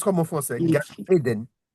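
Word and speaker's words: גן עדן: Gan Éden. Gan Éden. Éden se prononce comme en français, parce que Éden, c'est un mot hébreu qui veut dire plaisir, voilà, ou délice, jardin de délice.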